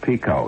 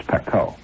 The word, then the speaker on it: pekoe: It's not pronounced pico, you know. It's pekoe.